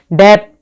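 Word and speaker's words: debt: जो silent B वाले वो बता रही हूँ, थंब, डम, क्लाइम, डेप, टोम, कोम, बोम, ठीक है, प्लम्बर, इनमें क्या है, बी साइलेंट है।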